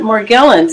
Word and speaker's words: Morgellons: How do you pronounce it? Oh, we call it Morgellons.